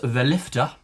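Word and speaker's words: verlig: It's pronounced valifa. Um it's from South African English.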